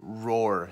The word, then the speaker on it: Roar: Roar. He's literally named Roar, like a lion roar.